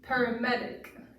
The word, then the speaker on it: paramedic: syllable words now so for example paramedic if you hear the stress on the med part um so you want to get louder and um increase your pitch and volume on that uh syllable of the word um so I'll do